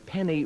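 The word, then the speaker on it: Feni: These people are carrying jute bags filled with clay across the mouth of the Penny River, that's spelled F-E-N-I, at low tide to construct a dam.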